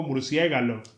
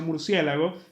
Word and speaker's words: murciélago: como murciégalo, por ejemplo, porque ya hay tanta gente que mal pronuncia murciélago que al final se rindieron y dijeron, "Bueno, será aceptar Murciégalo también como algo que está dentro del español oficial."